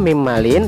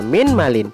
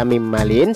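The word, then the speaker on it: مِنْ مَالٍ: Satu lagi contoh, mim malin tidak boleh dibaca min malin, tetapi wajib dibaca mim malin sebab nun sukun sudah diidghamkan pada mim dan seterusnya.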